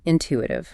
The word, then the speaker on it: intuitive: Moving to intuition, number 49, intuitive. And that pronunciation tip again. Intuitive, with that silent W sound that often trips learners up.